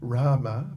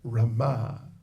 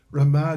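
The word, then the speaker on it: Ramā: an expansion of Radharani her name is Rama not Rama but Rama exa there the emphasis on the last syllable Rama Devi but unlike generally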